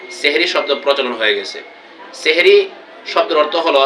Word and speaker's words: সাহরি: হয় এজন্য আমরা সকলেই সেহরি শব্দ বলবো না আমরা সবাই সাহারি বলবো ফেসবুকে দেখা যায় অনেক বন্ধুরা আপনারা সেহরি উচ্চারণ করেন বা লেখেন এখানে সেহরি হবে না সাহারি হবে এজন্য আমরা সবাই ভোর